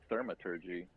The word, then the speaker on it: Thaumaturgy: I was going to use Mage Hand to try and deactivate something, but instead I'm going to use Thaumaturgy.